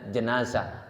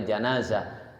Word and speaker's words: jenazah: Jadi bahasanya imalah ini miring ya. Jadi bacanya jenazah asalnya janazah. Janzah itu di kita kan ada dua Pak.